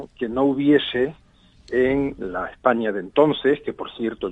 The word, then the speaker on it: España: en plena época goda, no se pronuncia Hispania, aunque se escribiera a veces, sino que es más bien España, pero una España que es España. Se pronunciaba casi con esa ñ, así que el nombre pues ya existía.